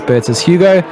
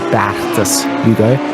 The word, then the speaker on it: Bertus Hugo: That's Bertus Hugo. And I always say his name very non-Afrikaans, and I think it's actually Bertus Hugo.